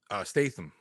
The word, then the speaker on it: Statham: Statham.